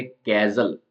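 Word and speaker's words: castle: बड़ा होता है साइलेंट कैरेक्टर है टी जो स्पेलिंग है कैजल ऐसी दूसरी स्पेलिंग्स भी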